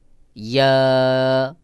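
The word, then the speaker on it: ياء: তারপরে ইয়া, ইয়া, ইয়া জিহ্বার মধ্যখান তার বরাবর উপরে তালুর সাথে লাগাইয়া একটু চাপ দিয়ে, যেখান থেকে উচ্চারণ হয় জিহ্বাটা একটু চাপ দিয়ে উচ্চারণ করবেন, দেখবেন সহি উচ্চারণ হয়ে যাবে। যেমন ইয়া, অনেকে শুধু ইয়া বলে, ইয়া, ইয়া, এটা সহি উচ্চারণ নয়। সহি উচ্চারণ হলো ইয়া, ইয়া, ইয়া।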